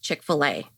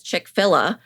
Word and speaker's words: Chick-fil-A: to explain to my mother-in-law how it was pronounced Chick-fil-A and I was like you know how like